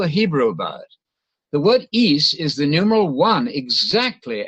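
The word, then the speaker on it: εἷς: in mark 29 is East I'm using the modern Greek pronunciation it's one single it's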